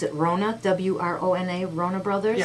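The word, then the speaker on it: Wrona: And the one at, how do you pronounce it, Rona, W-R-O-N-A, Rona Brothers? Yeah, Rona Brothers.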